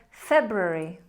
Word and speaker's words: February: You have to really make sure you're pronouncing that R after the B. February. February. Many of us naturally say February, and we put a liquid Y sound in there. February. But that's not correct.